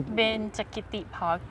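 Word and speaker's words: Benchakitti: It's something like Bashetti. How do you... Benchakiti Park. Benchakiti.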